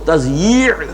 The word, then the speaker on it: تضییع: میں لکھا ہوتا ہے تو لوگ تثنیہ پڑھتے ہیں اسے، تثنیہ اوقات. یہ جو کہتے ہیں وقت کو ضائع کرنا تو وہ تثنیہ پڑھ دیتے ہیں اس کو، وہ تضییع ہے.